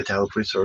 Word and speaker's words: Tallapoosa: Is that how you pronounce it? Yeah, Tallapoosa River.